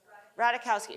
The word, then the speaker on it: Ratajkowski: What's that, Emily, how do you pronounce that last name? Ratajkowski.